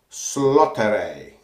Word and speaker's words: Slåtterøy: soap 250 our soap which i think is pronounced slaughter a I think it's a lot that a I'm doing my best